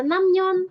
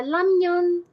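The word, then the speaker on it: 라면: Kalau ramyeon ya kadang ada yang baca namyeon, ada yang baca lamyeon, ada yang baca ramyeon. Tergantung orangnya beda-beda bacanya. Jadi ada yang suka bacanya ke arah L, ada yang ke arah N, ada yang R.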